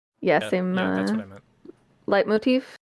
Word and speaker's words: leitmotif: Leitmotif is the right pronunciation.